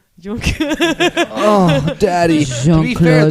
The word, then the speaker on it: Juncker: No, you said it wrong. Jean-Claude Juncker.